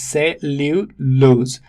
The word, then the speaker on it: cellulose: The pronunciation is cellulose. It has got two syllables one and two. All right. Stress falls on the first one.